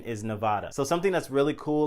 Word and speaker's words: Nevada: going to say it right now the correct pronunciation is nevada it's not nevada but i don't know i think sometimes i even say nevada myself but the correct pronunciation is nevada so something that's really cool like i said